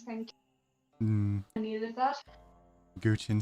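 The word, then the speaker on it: guqin: all so wild, and then the is it Gongqin? Is that how you say it? Which one? LAN1G's instrument. How do you say it? Guchin.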